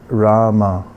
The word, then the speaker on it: Rama: to fix the mind it's two syllables first is raah second one is mom so together it's Rama for many thousands of